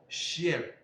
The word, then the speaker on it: chien: When the C comes in contact with what? The letter H in the word, the pronunciation is what? Sh. It is sh. So we have what? Chien.